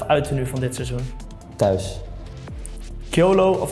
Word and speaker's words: Kjølø: Hoe spreek je het echt uit? Ja, ik verstaan dat het een beetje moeilijk is, maar je zegt Kyolo.